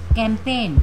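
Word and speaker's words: campaign: है नेक्स्ट है आपका कैंपेन कैंपेन में भी क्या है जी साइलेंट है क्योंकि ये एन से पहले आया हुआ है फिर है कं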